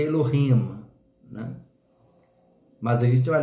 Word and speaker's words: Elohim: se referir a Deus e sim Eloim que se fosse pronunciar no hebraico seria Elohim né mas a gente